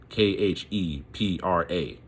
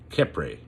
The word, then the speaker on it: Khepra: Again, I'll spell it again. Khepra. Khepra.